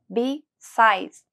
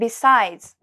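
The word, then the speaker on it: besides: 英語で日サイズ音節は 2 つで b サイズですアクセントは愛に着くの出会いを強調して発音してみましょう日サイズ日サイズ因子は副詞です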